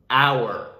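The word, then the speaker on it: hour: or home and then three more examples with a silent h so with the vowel sound our honor and honest now a few examples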